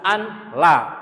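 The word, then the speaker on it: أن لا: Harus ashadu an la penulisannya ya. Walaupun dibacanya tetap Allah kan.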